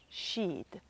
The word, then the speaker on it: Sidhe: questi esseri è il cosiddetto Side pronunciato sheed Questa è una parola